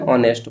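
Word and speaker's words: honest: सी इज एन ऑनेस्ट बॉय। तो ऑनेस्ट का उच्चारण वोवेल साउंड से शुरू होता है, इसलिए एन का प्रयोग लगेगा।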